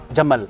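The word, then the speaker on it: جمل: Jamal.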